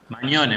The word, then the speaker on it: Magnone: Mañone, Mañone, bien Mag- italiano. Ma- Magnone, Mañone, bien. Mañone, viste que la GN Magnone, es una ñ. Magnone, ya está, Mañone.